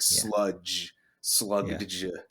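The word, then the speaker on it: Slugdge: It's like slug. It's like it's well it's spelled s l u g d g. So like sludge slug.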